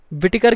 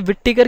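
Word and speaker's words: Whittaker: अब इसे कुछ लोग क्या बोलेंगे, विटटेकर, ठीक है, पर इसे विटटेकर की जगह विटिकर ही बोले तो बेहतर है, ठीक है। इसमें डबल टी है, आप इसे विट और टेकर अलग अलग ना पढ़ें, ठीक है।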